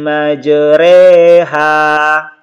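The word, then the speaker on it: مجريها: teman-teman sekalian dibagian bawahnya cara membacanya itu facg yang dimiringkan ke katsrah Hai dan Alif yang dimiringkan ke yatebts sehingga dibaca ya dibaca dan huruf-hurufnya ini tetap dibaca tarqiq jadi tulisannya ini majroha ini cara membacanya meijer Eha ayat lengkapnya teman-teman sekalian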